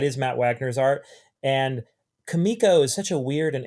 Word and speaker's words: Comico: about Johnny Quest, which he was doing for Comico, and right. he clearly calls them Comico, and because I've heard people pronounce it both ways, and I wanted to